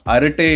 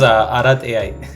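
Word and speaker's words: Arattai: So, as far as I've made my research, it's Harate in Kannada, Arate in Tamil, if I'm not wrong. Am I pronouncing it right? That's correct. Too funny. For me, it was Arat AI.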